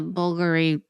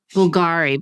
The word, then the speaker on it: Bulgari: Yeah, and she loves the Bulgari ring that I love. Bulgari, but we're supposed to say Bulgari.